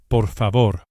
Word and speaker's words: por favor: un café Please is por favor. por favor Each of the final r's is lightly flipped with the very tip of the tongue. Just behind and above the front teeth. The very same tongue placement as an English d, but with the lightest and briefest of touches to produce the flipped Spanish r, r, r, por favor.